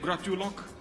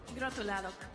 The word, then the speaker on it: Gratulálok: How do you say that in Hungarian? Is it gratulok? Gratulálok. Yes.